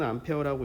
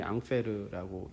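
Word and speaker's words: Ampère: 영어로는 암페어라고 읽고 프랑스 사람이기 때문에 원래 루이 앙페르라고 얘기를 합니다.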